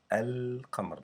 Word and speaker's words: القمر: Notice that when we say Al-Qamar, I pronounce it this Lam. Alif and Lam is an article that you add to a noun. Qamar is a noun by itself. It means moon. When I add Al in the beginning, it's like I'm saying the moon. So we know that we pronounce the Lam in the word Al-Qamar. I pronounce this Lam.